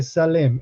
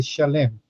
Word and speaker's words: Shalem: También luego dice rey de Salem. En las Biblias nosotros leemos rey de Salem, pero sería la pronunciación correcta, sería rey de Shalem.